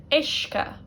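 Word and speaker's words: uisce: And then another word to show you, ishka, word for water. Ishka. Again, notice how it's the I really that's dominating here. Sim, ishka.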